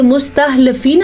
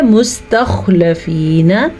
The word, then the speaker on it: مستخلفین: خواہ کے تلفظ کو آپ نے موٹا بھی پڑھنا ہے اور اس کو اپنے مخرج سے بھی نکالنا ہے. یعنی یہ مستخلفین نہیں پڑھنا آپ نے کسی صورت میں، یہ ہے مستخلفین.